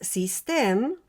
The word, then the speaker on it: Systeme: Entonces, System, y lo estoy pronunciando así porque es originaria de Francia, tiene la parte interna